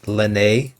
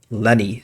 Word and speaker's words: Lyney: by the way uh in the last episode I kept calling him the Lanae but uh during editing last uh yesterday my sister uh very much informed me of the fact that his name is actually pronounced Lenny so yeah sorry about